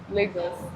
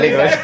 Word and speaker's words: Lagos: So, how do you guys pronounce Legos? Legos. Legos. Oh, okay. Legos. I thought you say Lagos.